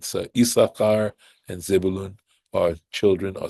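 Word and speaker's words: Issachar: servant to my husband and he was called isar so of course if you look at this it looks like but it's never pronounced that way and the fact that there's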